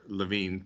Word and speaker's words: Lewin: Levine, I think, is the way that name is supposed to be pronounced.